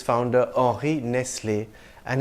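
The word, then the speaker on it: Nestlé: after its founder Ori Nestle and his surname has an acute Accent on the e at the end I would pronounce it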